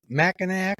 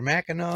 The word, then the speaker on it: Mackinac: But didn't you do something with Mackinac or Mackinac? Oh, fuck yeah, I did. Oh, God, fucking. Mackinac.